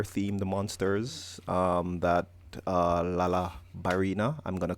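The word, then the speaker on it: Lala Barina: um but laala Barina I think it's always pronounced laala Barina uh which is like a a dancing spider that looks like FL I guess that's where where the the Barina should have been ballerina laal La ballerina yeah um but yeah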